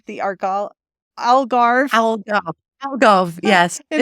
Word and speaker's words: Algarve: Algarve, yes. in It is not an Portugal. easy word. Lots of people struggle with it. It's Algarve.